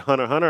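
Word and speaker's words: Hunter × Hunter: it aired on there, and they just said Hunter Hunter.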